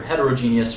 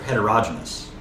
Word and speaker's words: heterogeneous: And you can pronounce these either way. Homogeneous or homogeneous. The same thing here, heterogeneous or heterogeneous.